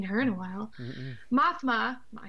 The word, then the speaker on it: Mothma: before bringing her to the Rebel leader Mon Mothma. Oh, we haven't seen her in a while. Mm-mm. Mothma, I said it wrong the first time, convinces